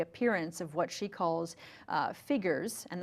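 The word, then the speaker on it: phigors: of what she calls figures and that's an invented word that she made up p-h-i-g-o-r-s it sounds like the word figures but really what she's talking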